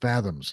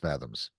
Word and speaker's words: FZMZ: Pronounced Fathoms. Of course, it's pronounced Fathoms.